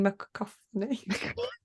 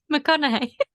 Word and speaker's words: McConaughey: Matthew McCoffney. McConaughey.